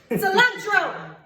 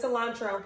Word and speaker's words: cilantro: My favorite word that he says is cilantro. Cilantro. Cilantro. Cilantro. Cilantro. Roll your R.